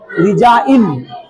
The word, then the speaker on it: resign: जी silent होता है, एन से पहले आया जी साइलेंट। जैसे DESIGN, है कि नहीं, क्या पढ़ेंगे इसको, डिजाइन, है कि नहीं, डिजाइन, इसको क्या पढ़ेंगे, डिजाइन नहीं पढ़ेंगे कि सर, डिजाइन, डिजाइन, डिजाइन, जी को उच्चारण नहीं होगा, डिजाइन, RESIGN, रिजाइन, SIGN, साइन, FOREIGN,